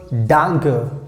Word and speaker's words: danke: can use this word danke that's how we have to pronounce danke danke so we can use